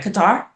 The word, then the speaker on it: Qatar: Qatar.